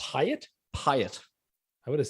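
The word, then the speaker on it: Piot: James Pyatt. You'd think it wouldn't be pronounced that way, but that is how it's pronounced. Pyatt? Pyatt. I would have said P.O.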